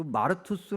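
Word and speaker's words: μάρτυς: 증인이란 단어가 어 구제 헬라 발음으로 얘기하면 마투스 그든 그 마르투스 단어에서 영어 단어 어떤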